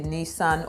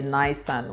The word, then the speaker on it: Nissan: volkswagen honda a toyota a ford or a nissan or a nyson whichever pronunciation goes for you so last but definitely